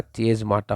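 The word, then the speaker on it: chiasmata: और स्पेलिंग में थोड़ा सा मिस्टेक है, जब मैं ठीक कर दूँ इसको कि जो ये स्पेलिंग है ये क्या होगा, चेज माटा होगा, चेज माटा।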